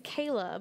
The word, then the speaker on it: Cahla: that yeah yeah so everybody always thinks it's like the veggie you pronounce it like the veggie i guess but uh so my real name is kayla but spelled like kala is in cauliflower and it was a